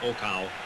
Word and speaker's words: Okau: a problem with him but I understand he's pronounced Oka he's a very famous fighter in Japan in